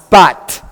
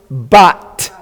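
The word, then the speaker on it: בת: You would pronounce that word bat, right? Because it's closed, bat.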